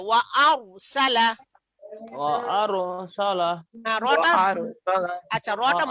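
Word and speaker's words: وَأَرْسَلَ: এরকম এখন তাসদিদ ছাড়া উচ্চারণ হবে। ওয়া আরসালা। ওয়া আরসালা রটা আরসালা আচ্ছা, রটা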